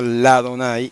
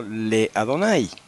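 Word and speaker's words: לאדני: pero en este caso se pronuncia la Adonai y no le adonay Okay ahora vamos con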